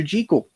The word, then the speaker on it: Jekyll: Jekyll and Mr. Hyde, or Dr. Jekyll and Mr. Hyde, because that is the way Robert Louis Stevenson wanted it pronounced, believe it or not.